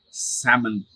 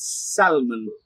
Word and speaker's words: salmon: is the fun word right this goes like salmon try it again salmon that is a l but nah it is silent it is not salmon so try it again salmon try it one